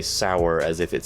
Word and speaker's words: Sauer: Well, you see, let me let me correct that. Sig Sour is a German company and it's spelled the exact same way. S A U E R.